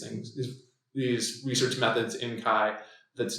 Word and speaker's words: CHI: So this is ACM, annual SIG Chi conference on computer-human interaction, CHI, pronounced like the Greek letter Chi.